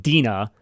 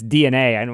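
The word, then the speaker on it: DeNA: partnership with DNA which it's spelled like Dina but it's DNA yeah I'd never heard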